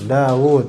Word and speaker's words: Daud: Ya, jadi kalau bahasa Arab itu bacanya Daud gitu. Jadi wunya agak sedikit panjang. Daud, bukan Akhbarana Rabi' bin Sulaiman bin Daud.